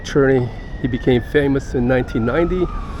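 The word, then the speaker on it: Černý: like the Communists so his name's pronounced David attorney not David Cerny um David cherny he became famous in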